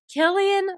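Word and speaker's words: Cillian: Killian Murphy crushed it.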